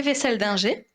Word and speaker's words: Weisseldinger: Donc, je m'appelle Vessel-Dinger.